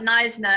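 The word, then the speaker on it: Knysna: It's very difficult for tourists to pronounce because when I speak about Neisner and then I write it with a K, people think it's a different town completely, but it's not. It's spelled K in like Kneisner.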